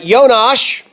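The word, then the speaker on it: Jonáš: his savings account uh yo nosh if he's checked yeah that's how they pronounce it if you're from the Czech Republic but Jonas Jonas if you're that guy from that one band I received a letter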